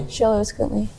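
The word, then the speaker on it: Xoloitzcuintli: It's when you can pronounce Xolo Escuintly. Xolo Escuintly.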